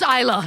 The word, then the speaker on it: Islay: Is now a good time to say that I'm Canadian and NOT and it's pronounced Isa actually.